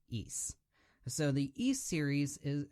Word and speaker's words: Ys: in the East series that's spelled YS but pronounced East so the East series